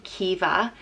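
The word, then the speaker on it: Caoimhe: beautiful and precious and is pronounced differently depending on where in Ireland you're from I would say qui veut I know other people say Kiva and I think that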